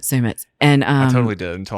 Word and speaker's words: Sumit: But a lot of people think it's Summit, but Sumit.